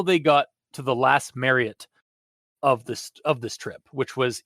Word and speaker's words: Marriott: How do you pronounce that? Marriott. Oh, I didn't hear the T. I thought you just called it Mario.